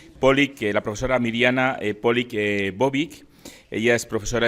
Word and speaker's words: Mirjana: Y en esta ocasión tenemos con nosotros a la profesora Mirjana, no sé si es Mirjana o Mirjana, la J se pronuncia en croata como una I, la profesora Mirjana Polić Bobić.